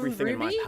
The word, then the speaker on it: RWBY: Because Cinder from Ruby, so that's spelled RWBY, just in case people in chat don't know where you're coming from, what but show to I'm be referencing.